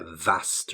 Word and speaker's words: vast: expanse a vast room and make sure you pronounce their V sound okay a vast room a ballroom could be a vast room the Parliamentary meeting